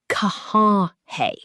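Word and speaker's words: कहाँ है: Pronounce it "Kaha hai?"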